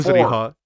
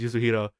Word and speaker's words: Yuzuriha: Yeah, the thing with Yuzuriha for me is that I'm just so used to calling her the wrong name, because for whatever reason my mind flipped around the two less syllables. So to me, she's Yuzuhira.